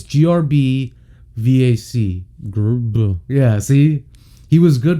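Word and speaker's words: Grbac: say his name because it goes grb to star and how the do you pronounce that like pronounce that it's grb vac yeah see he was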